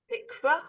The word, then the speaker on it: תקווה: Try pronouncing the vav. Tikva.